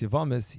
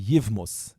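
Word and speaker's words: יבמות: Kempler, Zayin Gesund, once when he learned Mesechtes Yevamis, he said some people say that it should be Yivmus.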